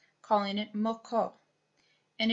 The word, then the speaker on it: moko: a K calling it moko and it is almost identical in pronunciation as in meaning with the Hawaiian name both the Hawaiians and